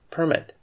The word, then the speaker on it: permit: with the previous words it is required that you stress the first syllable in this case permit you need a permit